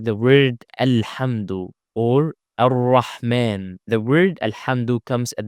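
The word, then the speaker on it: الرحمن: Same the word ar-rahman. Alif wasl in this case is followed by lam, so we need to apply it as hamza with a fatha. A. Ar-rahman.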